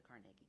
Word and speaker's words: Carnegie: Carnegie it helps it we're called The Carnegie Carnegie nobody else can say that and it is the right way to say it um I at least it's the Scottish way of saying it but